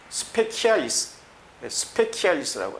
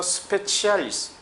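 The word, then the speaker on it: specialis: 그래서 스페키알리스라고 하죠. 그러나 기독교 라틴어에 있어서는 이것이 치로 발음이 될 때가 많습니다. 그래서 스페치알리스.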